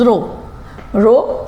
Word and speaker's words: rho: मतलब कॉपर जो है उसकी रेजिस्टिविटी दैट इज रो इसे RHO रहू बोला जाता है, पर H जो है साइलेंट है, that means it इज रो, इट इज a Greek